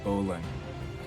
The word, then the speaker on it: bowline: the knot called the bowline you say it slowly or you pronounce it out right the way it's spelled it's bow line so i'm going to